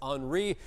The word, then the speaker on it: Henri: Looks like Henry, but it's Henri.